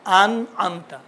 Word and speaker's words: أنعمت: انعمت پہلا والا الف ہے، بات والا عین ہے، لیکن تلفظ بہت اچھا ہے.